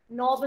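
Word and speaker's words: knob: जैसे for example character में H silent, school में एच साइलेंट, नाइफ में के इज साइलेंट, नोब में अगेन के इज साइलेंट, ब्रीद में लास्ट वाला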